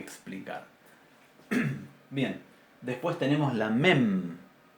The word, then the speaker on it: mem: Bien, después tenemos la mem. La mem es una bilabial oclusiva, nasal, sonora. Mem, nuestra M.